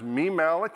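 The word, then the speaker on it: mimalloc: another one that's on github liblite this is pronounced me malik and it's from according to microsoft it's from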